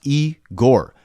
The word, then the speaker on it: Igor: This is Eigore, pronounced E Gore.